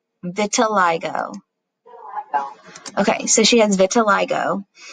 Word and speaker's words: vitiligo: Is this, and I pulled it up so we can pronounce it correctly. Vitiligo.